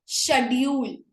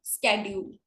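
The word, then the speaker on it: schedule: या अब देखो, शेड्यूल, इंडिया में क्या बोलते हैं? शेड्यूल, लेकिन अमेरिका में क्या बोलता है? स्केड्यूल। इवन मैं भी स्केड्यूल बोलती हूँ बिकॉज मेरी आदत नहीं है शेड्यूल बोलने की।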